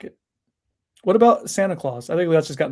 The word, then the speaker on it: Santa Claus: Santa Claus, like it's spelled like a clause in the contract.